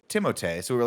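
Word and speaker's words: Timothée: we saw that article that said it's actually pronounced timote so we were like oh of course we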